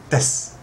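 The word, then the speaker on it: です: other people ask me why don't you pronounce the U at the end well that's a tough one um because well it's there but it's very soft right suppose you could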